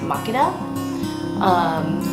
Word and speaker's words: Makeda: coffee was first discovered so we named it mechana coffee and then over time folks from Ethiopia come in and apparently the name is pronounced mock it up and I've met about three or four market